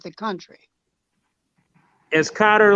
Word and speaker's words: Qatar: that qatar or qatar like the country as cotter like the country i keep saying guitar because i have the q in my head